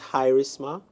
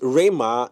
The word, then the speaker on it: Rema: Is this Hirisma or Hiris? It's Rema. Hi, but Rema. no, I mean how you pronounce the handle. He is Rema. He is. I thought it was Hais actually.